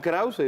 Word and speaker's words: Krauze: mispronounced all the time you could have chosen the Anglo way your cram young crowd but their own Krauser is the way you should pronounce no I do want to